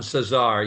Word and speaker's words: Cesar: Cesar is how you pronounce it? Don Cesar, yes.